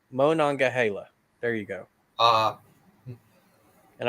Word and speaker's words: Monongahela: uh real artist and he says it's Mo non gay Halo so Monongahela there you go uh